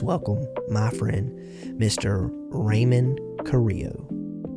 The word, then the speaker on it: Carrillo: Um you I would you could just say just say Curiel. Curiel? Yeah. Curiel? Curiel. Yeah. Now, it when I when I spell it in the title of the episode, is that I like in a hyphenated way?